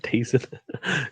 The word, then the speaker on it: DAZN: Yeah, I saw there's several articles about how do you pronounce DAZN? It's Well, the I mean, zone. Just the zone, yeah. Guys in DAZN the or chat as DAZN. well. Yeah, just say decent.